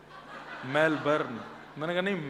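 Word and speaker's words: Melbourne: मेलबर्न मैंने कहा नहीं मेलबर्न र जो है वह साइलेंट बोलो तो लेकिन हुआ क्या यहां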